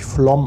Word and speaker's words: Flåm: Just like Flamm, there is also such a Kringel above the A, it pronounces Flomm.